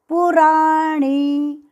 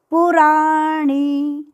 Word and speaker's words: पुराणी: प्रपद्ये, प्रपद्ये यतः, यतः प्रवृत्तिः प्रसृता पुराणी, पुराणी, ण बाण का ई की मात्रा दीर्घ, पुराणी, पूरा श्लोक।